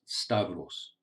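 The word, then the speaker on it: σταυρός: The first word is pronounced stavros.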